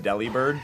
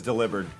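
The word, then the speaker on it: Delibird: Even though everybody I knew growing up said deli bird. That is deliber.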